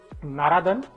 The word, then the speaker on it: Naradan: to his upcoming movie Naradan. Naradan. Okay. The pronunciation we always have to get a little right. Narad Muni, you know? Naradan, correct.